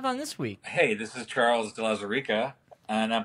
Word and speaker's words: Charles de Lauzirika: we have on this week hey this is charles de la Sarika and i'm pronouncing my name for myself because apparently no